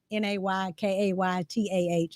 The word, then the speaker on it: Nakata: Now it's spelled Nakata, but I always say Naykaytah.